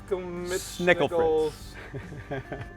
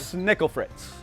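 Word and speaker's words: Schnickelfritz: Snickel Fritz. One more time. Most people don't say it right. One more time. Snickel Fritz.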